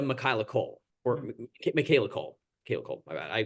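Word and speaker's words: Michaela Coel: Michaela Cole. My bad. I pronounced it like Patrick Stewart pronounced it for some reason when he presented the Emmy.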